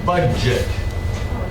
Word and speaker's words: budget: Um, so this word here, budget, it's an interesting combination of DG. It's not common. Budget. So it's a try it. Budget. Budget. Budget. The D doesn't have a D sound. So it's kind of a a cluster of budget slowed down budget.